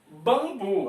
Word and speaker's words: bambu: Bambu, a mesma coisa. O M a gente não pronuncia.